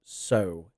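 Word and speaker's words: sow: reap what you sew notice the pronunciation there you reap what you seow that s so is seow you can see on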